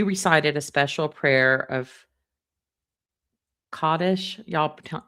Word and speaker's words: Kaddish: We recited a special prayer of Kaddish, y'all k a d d i s h, and the clergy recited Kel Maleh Rachamim.